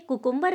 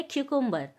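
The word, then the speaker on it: cucumber: याद रखें, कुकुम्बर नहीं होता है, इसका करेक्ट प्रोनाउंसिएशन होता है क्यूकुम्बर।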